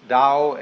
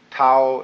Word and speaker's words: Tao: called a dao tao pronounced dao in the mandarin dialect tao in the shanghai dialect toe in the cantonese dialect take your choice dao